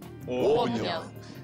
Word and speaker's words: обнял: Да, Виталий Алексеевич, знаете, вот из своей жизненной ситуации, как правильно, обнял или обнял? Классическая литературная форма в формах прошедшего времени приставочных глаголов раньше требовала ударения именно вот на приставке.